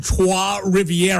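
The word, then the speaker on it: Trois-Rivières: in the French version, it's Trois Rivières.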